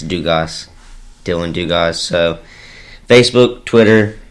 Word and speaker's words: Dugas: And then Dugas, Dugas. It's not Dugas like a lot of people like to think. It's Dugas, Dylon Dugas.